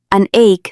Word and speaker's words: an ache: Anake se pronuncia como ache y significa un dolor.